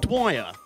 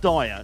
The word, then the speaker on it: Dwyer: the club where people mispronouncing dwyer is it dwyer not dire not danny dyer we've not got danny